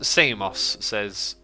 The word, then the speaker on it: Xisuma: thinking also my name my name is pronounced CMOS says I call you